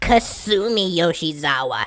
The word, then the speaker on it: Kasumi Yoshizawa: named violet um actually you got her name wrong it's Kasumi yoshizawa not tsundere or whatever didn't I tell you